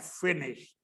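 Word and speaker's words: finished: डी बोलेंगे, वी हैड फिनिश्ड, वी हैड फिनिश्ड। अब फिनिश्ड जो शब्द है उसमें ईडी लास्ट में आता है, लेकिन उच्चारण उसका टी होता है लास्ट में। फिनिश्ड, फिनिश्ड ऐसा नहीं बोलते, फिनिश्ड।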